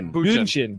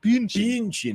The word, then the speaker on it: Bündchen: That is Sources close to one Thomas Brady say that ex-wife Giselle Bündchen, I've never been able to pronounce her. Bündchen. I've She's never... German, Nick. Bündchen.